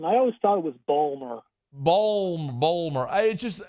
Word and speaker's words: Baltimore: Baltimore and they they they basically pronounce the T as a d and it's like balmore it's like well is